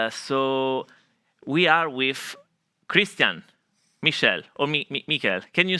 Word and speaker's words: Michel: Yeah, that's a German pronunciation. In English, you say it Michael, basically. Michael in English. Okay. Nice to meet In German, you. it's Michel.